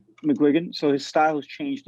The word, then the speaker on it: McGuigan: Is that how you say his name? McGowan? McGuigan.